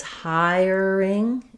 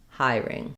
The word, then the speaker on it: hiring: I said it as hiring and hiring. And I think both of them are correct.